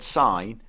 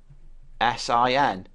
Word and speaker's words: sin: mathematical writing the word sign is shortened to s i n and it is never pronounced sin the angle of interest